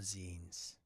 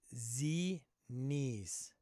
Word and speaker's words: zine: You have 3 flavors of membership: stories, adventures, and all of the zines. Get some featured on here. Z-knees. What's Z-knees? Send you a piece through the mail. Indeed. It's pronounced zine, you plebe.